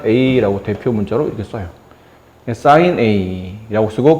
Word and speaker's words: sine: 빗변분의 높이라고 써지는 이 부분을 앞으로는 뭐라고 정의할 거냐면, 원래는 SINE, 사인이라고 읽어요. 사인. 근데 세 글자만 떼면 무슨 씬처럼 보이는데 사인의 줄임말이에요.